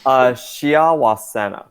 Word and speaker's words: Shiawasena: So, how do you pronounce it for the record? Shia Wasena, but you can just call me Shia. Everyone calls me Shia.